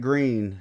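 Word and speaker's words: Gruene: So Green Hall. yeah, green. It's the oldest dance hall. What? Yeah. Grueni. Yep. Grueni. Green. Yep. Just pronounced green.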